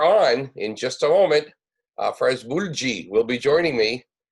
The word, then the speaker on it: Afraaz: The pronunciation of your name, Afraaz? Yeah, Afraaz. Afraaz Mulji.